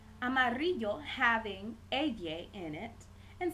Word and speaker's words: amarillo: that we have being the two L's together has a pronunciation of an English y so if we wanted to say the color yellow in Spanish we will say Amarillo a Mario Amarillo having Edie in it